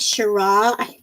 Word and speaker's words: Shiraz: Well, no, there's a Z on the end, so I pronounced it. I'm so sorry. Yes, the Z is silent.